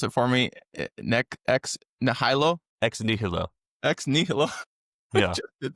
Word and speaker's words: ex nihilo: So Latin, pronounce it for me. Ex nihilo.